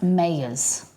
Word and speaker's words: Meijer: Pronounce Mayers.